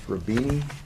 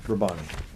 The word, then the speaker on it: Rabbani: I think it's Rabini. That is Dr. Rabbani? Rabani.